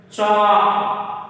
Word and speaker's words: chalk: Chalk. Chalk. L. L is the silent letter.